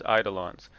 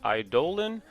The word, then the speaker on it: eidolon: let's get into Luca's eidolons I found out from impact that it's actually pronounced idolin but I don't care I'm gonna keep saying it wrong for at least one